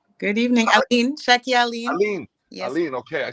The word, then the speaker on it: Allyene: Allyene.